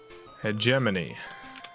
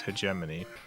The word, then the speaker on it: hegemony: So, however you're pronouncing it is probably closer. cat. Oh god, alright, whatever. Hegemony. Yeah, it's hegemony.